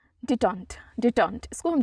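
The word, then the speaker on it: détente: हम एब बोलते हैं हमारा नेक्स्ट वर्ड है डिटन डिटेंट इसको हम डिटन प्रोनाउंस करते हैं डी ई टी ई एन टी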